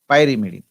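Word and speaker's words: pyrimidine: It is pronounced it as pyramidine.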